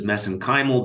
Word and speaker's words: mesenchymal: And of course, you study MSC stem cells, which I pronounce as mesenchymal because that's how they pronounce it in Ireland. I know there's other pronunciations for that.